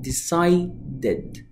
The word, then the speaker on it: decided: ايه اخر ساوند منطوق في كلمه ديسايد؟ هي الساوند ده، وبالتالي لما انطقها هقول، يلا قول معايا، decided decided decided، need needed، want wanted، invite invited.